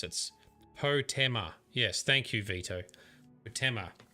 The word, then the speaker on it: Potema: I think Potema is how you pronounce it. Potema.